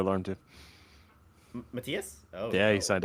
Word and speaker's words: Matthias: the 4th, me, Matthias, who's my friend who plays Beast of Chaos. Pretty sure it's pronounced Matthias.